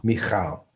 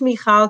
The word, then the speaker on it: Michal: Just pronounce it one more time. Michal. Michal. Were you ever in the Navy? No. That's, that in Israel, everybody needs to serve in the military service. But why? Which Michal do you know in the Navy?